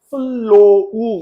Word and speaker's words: flow: 겁니다 무슨 뜻이라고 흠 결함 이런 뜻이고요 얘는 플로우 이렇게 발음하는 거예요 Flow 그러면 무슨 말 흐르다 흐름